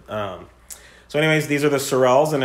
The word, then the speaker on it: Sorels: So he picked out some top-notch drivers, and the project is called the Sorels. So the name is because Sorel rhymes with Morel, and his name's Sonu, so it's a kind of a cool, catchy name.